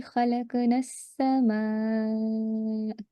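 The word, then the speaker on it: خلقنا السماء: So when you're joining this would be khalaqna sama. So you will not be pronouncing the sound of lam over here, right?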